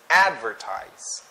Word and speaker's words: advertise: immortal immortal advertise advertised so for this word the stress is in the first syllable which is advertised advertised next address I'm